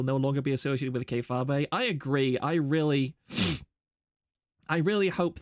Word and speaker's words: kayfabe: It's kayfabe, not kayfabe. Look, I've only ever heard Kirsha say that, and Kirsha says it as kayfabe, okay? So, look, if my Kamiyoshi pronounces it one way, then obviously I'm going to pronounce it that way too.